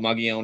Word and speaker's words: Mogollon: It's called Mogollon in New Mexico, and thanks for pronouncing it correctly because it's actually very difficult.